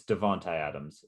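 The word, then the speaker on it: Davante Adams: today is it devontae adams is it it's devontae adams that's how you say it he's going into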